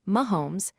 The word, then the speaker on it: Mahomes: Today, the Chiefs are one of the most valuable franchises in the NFL, especially after the rise of Patrick Mahomes, pronounced Mahomes, and the team's modern championship era.